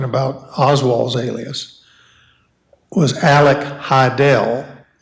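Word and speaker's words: Hidell: Oswald's alias was Alec Heidel h-i-d-e-l-l as in rhymes with Fidel and he he he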